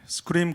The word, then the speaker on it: SQream: 네, 스크림 코리아 박찬호입니다. 반갑습니다. 이 소개해 주신 분께서 저희 솔루션을 굉장히 잘 발음해 주셔서 정말 감사한데, 맞습니다. 스크림이라고 읽습니다.